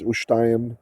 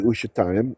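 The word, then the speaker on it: ושתים: Some people will be like, Israeli pronunciation's ushtaim. Yeah, that's true. That's true. It often gets softened down, but ushtaim, it's a vocal shwa, should be ushtaim.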